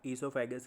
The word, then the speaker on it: oesophagus: ठीक है, स्पेलिंग इसकी होती है OESOPHAGUS, लेकिन इसमें ओ साइलेंट होता है स्टार्टिंग वाला। ईसोफेगस कहेंगे इसे।